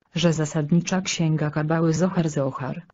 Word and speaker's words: Zohar: zasadnicza Księga kabały Zachar Zachar tak jak w polskich wymowie a nie Socha z niemiecka bo Niemcy inaczej wymawiają z wyjaśniono to i